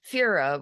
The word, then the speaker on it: Fira: The doorman glanced at it, then announced her to the room, mispronouncing Fira with a long E instead of a long I.